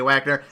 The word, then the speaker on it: Wagner: Wagner, and with me today I have Rice Steak Mitters. Oh my god! It's Wagner! It's Wagner, you jerk! I'm not German, Ryan. I'm pronouncing the W as is.